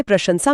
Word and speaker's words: प्रशंसा: जैसे प्रशंसा में पहला श तालव्य है और आखिरी स दंत्य।